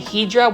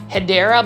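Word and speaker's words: Hedera: where it was um me saying Hedra when it was actually Hideera, but that's kind of stuck around with it.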